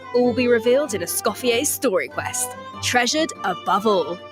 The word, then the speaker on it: Escoffier: is silent. It's Escoffier.